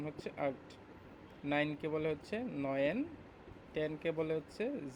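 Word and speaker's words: neun: এইটকে বলে হচ্ছে আক্ট, আক্ট, এটা আক্ট, উচ্চারণ হচ্ছে আক্ট। নাইনকে বলে হচ্ছে নয়েন।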